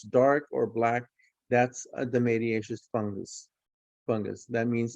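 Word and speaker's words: dematiaceous: the media and the mediatious fungi okay that's pronounced the mediatious it's a specific type of fungus and i'm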